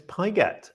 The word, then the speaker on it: Pigott: We were just discussing how to say Tyler's name, and it's Pigott, apparently. That's correct? Yep, that's right. Pigott.